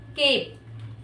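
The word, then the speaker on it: cape: तो यहां पर इ हो जाएगा साइलेंट। और हम क्या पढ़ेंगे इसे? केप। इ का साउंड जो है वो हमें सुनाई नहीं देता।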